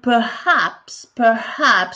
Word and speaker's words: perhaps: Maybe ou perhaps, comme la dernière fois, n'oubliez pas le H au milieu, il faut le prononcer.